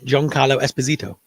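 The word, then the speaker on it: Giancarlo Esposito: New World no um midium I can never pronounce his right but the say again joh John Carlo Esposito that's it yeah so he is in a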